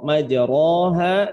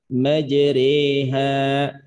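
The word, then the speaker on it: مجراها: Sesudah kita mempelajari pada saat ini tentang bahasan yang disebut dengan al-imalah atau bacaan imalah, maka cara bacaannya bukan lagi dibaca dengan majroha, tapi dibaca dengan majreha.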